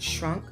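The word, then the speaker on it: Schrank: is a German shrink which is pronounced shrunk she was stationed over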